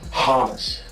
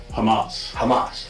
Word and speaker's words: Hamas: Hamas. Hamas. Yeah. Sorry, I said it wrong. No worries. Hamas supporter.